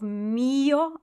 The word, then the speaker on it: mio: So a nice big M of mio, and the E sound is the one that we emphasize.